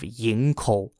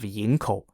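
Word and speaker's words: Yingkou: were in the way to the city of yinko y-i-n-g-k-o-u yinko was a Seaside City and port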